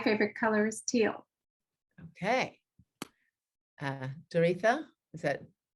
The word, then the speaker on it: Doretha: Doretha, is that how you pronounce it?